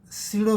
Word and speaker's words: pseudo: चौथा पॉईंट, हा जो सेंट्रिफ्युगल फोर्स आहे त्याला सिडो फोर्स म्हणतात. त्याचं स्पेलिंग आहे PSEUDO. Centrifugal force is ए सिडो force. PSEUDO असं स्पेलिंग आहे परंतु उच्चार मात्र सिडो असा करायचा. तर centrifugal force is दी सिडो force असं चौथा पॉईंट आहे.